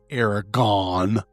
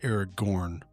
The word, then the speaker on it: Aragorn: It is not Aragon. It's Eric Gorn.